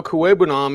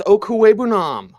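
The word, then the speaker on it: Okwuegbunam: hooper brevin jordan alberto kuwaibanam and for the love of god it's okuwebunam the one thing that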